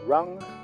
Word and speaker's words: wrong: problema pasa algo malo la W de round es muda no se pronuncia decimos hay algo mal